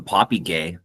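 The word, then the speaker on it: Popigai: No, tell me, just gonna bring up the Poppy Gay River. Yeah, this is saying that it's a hard G.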